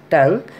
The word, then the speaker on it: tongue: Here TONGUE, tongue sound by spelling, but we are reading as a tongue.